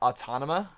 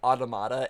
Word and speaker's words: Automata: initially see it as it looks like uh autona like how us Americans would say it but um they they directly say automata in the anime so